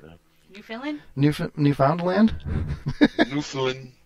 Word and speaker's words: Newfoundland: Newfoundland. You gotta say it like a pirate.